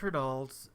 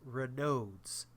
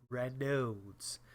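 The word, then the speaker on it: Raynaud's: Um it is Ronald's. Uh, I found out that I've been pronouncing it wrong this whole time. It is Renodes. Renodes. Renodes syndrome.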